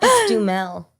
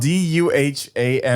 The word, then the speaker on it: Duhamel: - Let's Duhamel. - Let's Duhamel? - Yeah. (laughing) - Wait, it's spelled D-U-H-A-M-E-L.